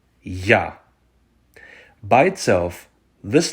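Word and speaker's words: я: of the Ukrainian alphabet and that's the letter ya by itself this letter is also the word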